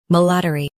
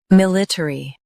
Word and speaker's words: military: Military. Now, read the syllables of British pronunciation shown on the screen naturally. Military. Military. Stress mill. Keep ter and e light.